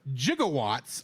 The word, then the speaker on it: gigawatt: Doc Brown refers to jigawatts of electricity M this is a obscure but once standard pronunciation of the word gigawatt or which is one billion Watt nowadays is usually pronounced with a hard G in Romance languages however